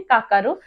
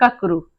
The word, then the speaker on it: ककरू: कोहड़ा को मुंडारी में काकरू बोलते हैं, हसदा मुंडारी में काकरू या तो फिर ककरू। नागुरी मुंडारी में ककरू कहते हैं। इस तरह से उच्चारण करते हैं, ककरू।